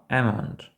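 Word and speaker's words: almond: цих слів Дуже схоже Справа в тому що в такому випадку ми не вимовляємо букву L Тобто amond amont це мгдальний горіх мдаль amont А ось samon - це лосось I love semon буква lл не вимовляється А ось пам це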